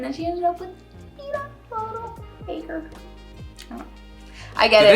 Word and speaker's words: Peeta: But he wasn't, it's not spelled like pita bread.